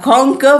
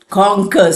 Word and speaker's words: conquer: You have conquer which means to win. So vocabulary, grammar, pronunciation, spelling, stoops s t o p s. Conquer. C O N Q U E R. Q is there not clearly pronounced.